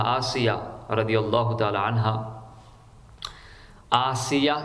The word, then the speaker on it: آسیہ: رضی اللہ تعالی عنہا۔ آسیہ یعنی حمزہ کے ساتھ آسیہ اور سین کے ساتھ عاصیہ، یہ غلط تلفظ ہے، اس کا معنی چینج ہو جائے گا۔ فرعون تو حضرت موسیٰ